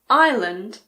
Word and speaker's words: island: Unfortunately, there aren't really any rules here, but luckily there aren't that many words that have a silent S. Some of the most common ones are aisle, bourgeois, debris, island, and aisle.